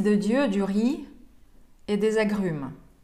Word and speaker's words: riz: Fils de Dieu du riz et des agrumes. Кстати, riz, который пишется как R-I-Z, опять-таки читается как «ри», без последней согласной, и обозначает «рис».